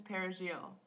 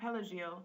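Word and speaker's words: perejil: pronounce the letter R parsley in Spanish is perigil so if it came out pelegiel the speaker was condemned to death for having a Haitian accent the word we here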